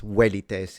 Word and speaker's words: velites: Velites in classical, but what he said is correct in ecclesiastical.